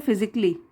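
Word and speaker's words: physically: की चीज देख देखिए सी के बाद अगर ए एल एल वाय हो तो यह हम ए को प्रोनाउंस नहीं करते हम कैसे बोलते हैं फिजिकली और यह जो है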